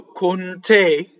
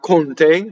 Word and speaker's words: con te: So, con te, so the accent's on the te, not conte, that's a count.